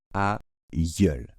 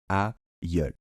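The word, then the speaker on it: aïeul: du mal et donc on doit prononcer tout simplement àul d'accord àul donc au début ça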